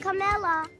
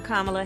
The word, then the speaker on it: Kamala: of substance pamela it's not kamala it's not camella but she still had to teach the country how to say her name i'm kamala harris and she was openly attacked by the